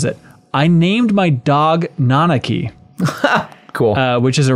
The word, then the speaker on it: Nanaki: went through they say now I know for sure that it's pronounced nanaki and not nakaki which is how I